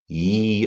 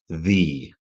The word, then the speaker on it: Ye: and things you see Ye Old Tavern but it's supposed to be pronounced the that thing that looks